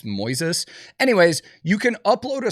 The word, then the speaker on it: Moises: I think it's Moises I always want to say Moses but it's not spelled like that it's Moises anyways you can upload